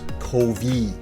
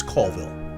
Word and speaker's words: Colville: but he always did he pronounced this kovy kovee cov it's colville colville it's a famous castle